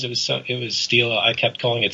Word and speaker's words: Stela: t l a i didn't know how to pronounce it I didn't realize it was so it was Stila I kept calling it Stella and of course then you want to scream